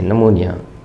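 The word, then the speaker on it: pneumonia: निमोनिया। अब इसकी P silent है। पी एन ई यू एम ओ एन आई ए निमोनिया इट इट इज़ अ disease.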